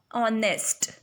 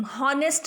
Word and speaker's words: honest: ऑनेस्ट की spelling होती है HONEST, ऑनेस्ट, है ना, HONEST. हम हॉनेस्ट नहीं बोलते, ऑनेस्ट बोलते उसको.